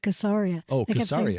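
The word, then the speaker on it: Caesarea: by Herod the Great didn't realize it was locally pronounced casaria where are we going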